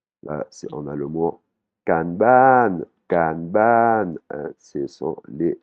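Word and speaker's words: การบ้าน: Là, on a le mot kanban, kanban. Hein, ce sont les devoirs. Hein, kanban. Il y a deux syllabes et quand on parle, on arrive bien à faire la distinction entre ces deux syllabes.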